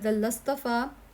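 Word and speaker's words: اصطفى: वद लस्तफा वदल लस्तफा लिखने में ये आएगा यहां पर अलिफ लेकिन बोलने में नहीं आएगा। साइलेंट रहेगा वस्तफा वदस्तफा कोई बेटा तो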